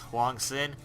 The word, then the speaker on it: HwangSin: here Huang sin or I think or correctly pronounced Huang sin and it is going to be the blue